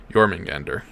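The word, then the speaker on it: Jörmungandr: of the nine and encounter the world serpent jormungander nailed it well i thought no it is not pronounced jagermeister i see your notes in there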